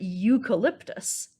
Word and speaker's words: eucalyptus: the very first letter, sometimes when these letters are put together, they make the U sound. So in the word eucalyptus, we have that U sound at the beginning. But you know what's kind of fun? This word, eucalyptus, actually has both U sounds in it.